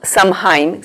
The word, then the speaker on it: Samhain: lo tienes que hacer en honor al dios san jaime el 2 san san jaime se escribe s a m h n este dios